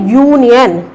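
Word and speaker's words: union: लेकिन जब हम इनका प्रोनाउंसिएशन करते हैं तो प्रोनाउंसिएशन इसका क्या है? यूनियन। तो हमें इसकी प्रोनाउंसिएशन पर भी ध्यान देना है। अब जब हम इसको यूनियन बोलते हैं तो यहाँ पर हिंदी की जो साउंड है वो यू आती है, यानी ये की साउंड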